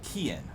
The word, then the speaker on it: Cian: Well, that's very close to the Gaelic pronunciation of my name, because historically it's it's spelt with a K, so it's Cian.